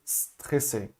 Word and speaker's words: stressé: Você vai simplesmente soltar o A, você vai fazer a boca do S e soltar o A, ok? Stressé, stressé, tá certo? É assim que faz essa pronúncia aqui, quando o S está sozinho, no começo da frase, ou no começo de uma palavra, e depois tem uma consoante, beleza?